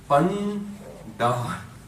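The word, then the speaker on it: ਭੰਡਾਰ: So it's 'Bhan-ddaar,' It is 'Dadda.'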